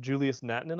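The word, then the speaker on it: Julius Nättinen: Julius Nattinen, I believe is how you say it.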